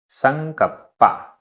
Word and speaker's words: संकप्पा: संकप्पा, आधा पा पूरा पा, संकप्पा।